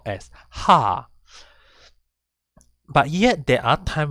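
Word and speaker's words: は: to explain to you when do we pronounce it as ha and when is it being pronounced as wah so for now we'll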